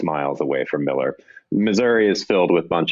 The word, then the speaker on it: Missouri: Some people might pronounce it misery, but it's Missouri.